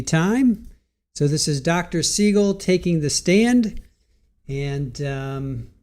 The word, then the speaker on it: Siegel: Uh, my name is Seagull and that is spelled S I E G E L.